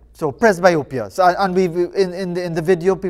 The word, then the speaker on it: presbyopia: mr muhammad is have i pronounced it correctly press biopia or press b opia how is it pronounced hi morning it's pressed by okay i pronounce it all right right so press biopia so and we've in in the video people